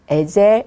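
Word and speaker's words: עֵזֶר: 돕는 배필로 보내 주셨습니다.이 돕는 배필이란 말은 히브리어로 얘기하면 에젤, 에젤 그런 뜻입니다. 그런 발음입니다.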